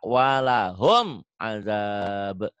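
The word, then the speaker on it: ولهم عذاب: Karena mim mati bertemu dengan ain, maka hukumnya Idhar. idhar, ya, gitu ya. Bacanya seperti disentak walahum azab, ya latihannya.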